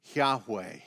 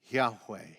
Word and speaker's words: Yahweh: loud historians say that the best pronunciation is probably something like yahweh yahweh which is fascinating to